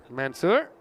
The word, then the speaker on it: Mansoor: He was giving me, while I was over there, some expert coaching in how to pronounce his name. So, Mansoor.